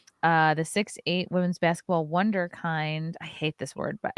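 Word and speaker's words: Wunderkind: else I don't know how do you pronounce that that's a German word wonder wonderkind wonder actually like wonderkind I think it's stupid that's how you say it in the German but I actually used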